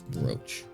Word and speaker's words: brooch: swear I've heard both going tole reach pronunciation Rouch broo brooch broo brooch okay it's brooch gotcha there's no need to return that brooch